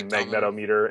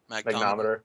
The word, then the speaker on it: magnetometer: The full version comes with a barometer and I'm going to mispronounce it, but I say magnetometer in my magnometer.